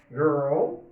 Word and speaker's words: girl: Boy, girl, bridge. Cuidado com a pronúncia de girl, ok? Não é girl. A gente vê pessoas falando girl. Nada de girl, ok? Girl. Tá bom?